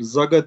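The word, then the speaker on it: SAGA: Zaga diye ev kiralama şirketi var. Büyük bir şey. S-A-G-A diye yazılıyor. Zaga diye okunuyor.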